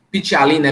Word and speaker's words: ptialina: mesmo a mesma coisa pitty alina é pt tá é mudo pt e a l i n a pitty alina onde a